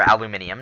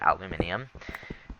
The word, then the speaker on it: aluminium: So, it looks like we found coal and aluminum uh or aluminium depending on where you're from. Uh if you're British, you'll probably pronounce it aluminium.